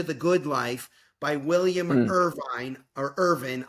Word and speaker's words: Irvine: a guide to the good life by William Irvine or Irvin. I R V I ne he pronounces it Irvin.